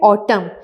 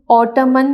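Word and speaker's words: autumn: ये जो वर्ड है ऑटम, इसमें एन साइलेंट है। आपने ऑटमन नहीं कहना, ऑटम कहना है, एन साइलेंट है।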